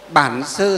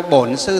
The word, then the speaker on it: Bản Sư: Nam Mô Bản Sư Thích Ca Mâu Ni Phật, là tiếng miền Bắc. Miền Nam đọc là Nam Mô Bổn Sư Thích Ca Mâu Ni Phật, là tiếng miền Nam.